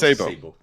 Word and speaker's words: Sebo: It's not Sebo, but Sebo. We pronounce Sebo.